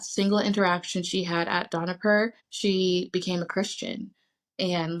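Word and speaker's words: Dohnavur: And so there's a story about this one little girl named Mimosa who went to how do you pronounce it? Donipur. It's called Donipur.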